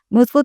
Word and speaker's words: Mood Food: Mood Food se pronuncia Mood Food, pero se escribe m O o D f O d, ¿cierto?